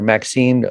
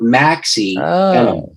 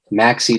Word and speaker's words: Maxie: power is god's idea co-written with reverend dr maxine dunnam dunham right you're almost right how do you pronounce her name it's well here's the book